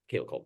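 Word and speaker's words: Michaela Coel: Michaela Cole. My bad. I pronounced it like Patrick Stewart pronounced it for some reason when he presented the Emmy.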